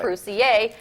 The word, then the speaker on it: Croucier: Yeah, which is why your name is spelled Juan Croucier, but it's pronounced Juan Croucier, which you told me is actually French.